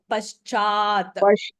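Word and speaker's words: पश्चात्: So ish plus cha, ishcha. How do you say it? Pa, ish, cha, it. Paschat.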